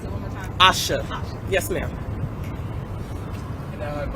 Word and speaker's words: Asha: Could you pronounce it one more time? Asha.